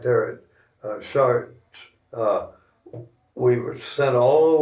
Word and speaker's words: Chartres: broke out across France at Chartres, they called it, but it was Chartres is the way it's spelled.